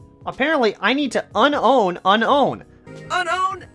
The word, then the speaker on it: Unown: Apparently, I need to unown unown. Unown A! I've been calling it unknown for so long. I know it's pronounced Gligar, Gligar!